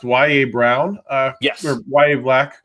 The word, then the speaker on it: Yahya: Uh Chris, uh I believe it's pronounced Wyatt Brown Yes. Wyatt Black, correct? Wyatt Black, yeah.